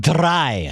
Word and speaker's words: drei: Drei. How do you spell that?